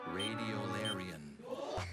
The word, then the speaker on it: radiolarian: Radiolarian. Radiolarian? Radiolarian. May I have all the information, please? Radiolarian is the only pronunciation for this noun.